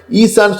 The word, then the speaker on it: ஈஸா: ரொம்ப பேரு தமிழ்ல சொல்லும்போது ஈசா ஈசா அதேபோல ரசூலல்லாஹ்வுடைய பேர சொல்லும்போது முகம்மது முஹம்மது ரசூலுல்லாஹ் ஸல்லல்லாஹு அலைஹி வஸல்லம். நபிமார்களுடைய பேரை குர்ஆன்ல அரபில எப்படி சொல்லப்பட்டிருக்கோ அதே போல உச்சரிக்கணும். நீங்க தமிழ்ல சொல்றேன்னு சொல்லிட்டு இஷ்டத்துக்கு சொல்லக்கூடாது விஷயத்துக்கு வாங்க.